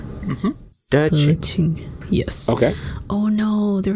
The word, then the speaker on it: De Qing: Her name, her Dharma name is De Qing. So it's D-E space Q-I-N-G. So Q is always pronounced like C-H. Mm-hmm. De Qing.